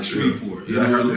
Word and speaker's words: Shreveport: She called it Shreveport, and Sway had to correct it. He was like Shreveport, you know what I'm saying?